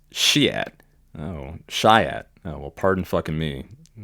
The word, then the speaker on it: Chiat: came from the MC who repeatedly mispronounced shi's name it's shiat oh shyat oh well